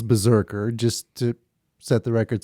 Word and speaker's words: BRZRKR: is the Keanu Reeves the spelled without the vowels Berserker just to set the